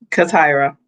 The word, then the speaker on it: CaTyra: CaTyra.